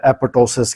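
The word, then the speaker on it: apoptosis: इस अमल को medically अपॉप्टोसिस या एपोस कहते हैं पी साइलेंट भी पढ़ा जाता है इसमें जिको सेल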